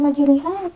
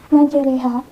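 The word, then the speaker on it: مَجْرٰىهَا: Tulisannya memang majriha, namun kita bengkokkan huruf to yang tadinya ini menjadi re. Jadi kita tidak lagi membacanya majriha, namun menjadi majreha.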